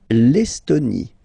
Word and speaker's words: L'Estonie: L'Estonie, final E, not pronounced.